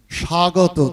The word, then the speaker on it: স্বাগত: ওই একটা ব যে ও, সাইলেন্স লেটার, যার কোনো উচ্চারণে শোনা যায় না এমন একটা উচ্চারণ, আমরা জানি না। আমরা লিখছি স্বাগত, দন্ত শয়ে বয় আকার গত।